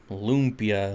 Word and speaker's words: lumpia: I have a Filipino friend, and she pronounces it just like you did. Yep. Lumpia, Lumpia.